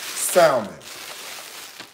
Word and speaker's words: salmon: picked up some beautiful salmon I pronounce the L on salmon I'll tell you why